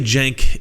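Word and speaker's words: Cenk: how do I put this let's just say Jenk is special so first let's get the pronunciation of his name out of the way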